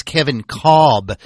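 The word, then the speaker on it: Kevin Kolb: Cardinals uh and it's actually his name is Kevin cob which is really weird makes no sense to pronounce it that way but that's how he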